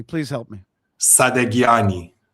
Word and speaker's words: Sadaghiani: Sadaghiani. Sadaghiani. Yeah. Sadaghiani. Well, in Farsi, it's actually Sadaghiani, but we don't have Sadaghiani. the sound in English. So the H is silent, basically.